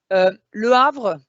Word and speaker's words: Le Havre: Le Havre, remember we don't say it, but there is an H.